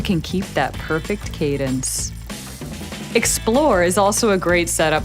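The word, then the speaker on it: XPLR: right for you meet explore the newest addition to the swam gravel family pronounced explore not XR we created this gearing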